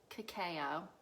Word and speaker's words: cacao: throbbing so i ate my dark chocolate 95 cacao that's how you say it um hey diana